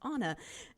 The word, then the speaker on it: Anna: email Anna and say do you pronounce your name like Anna from Frozen when she emailed me and said oh and by the way my name is pronounced Anna and I was so